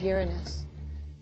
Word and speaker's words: Uranus: the planet's name Uranus which is very likely closer to the original pronunciation of the name of the God after it was named if you think Uranus is a funny name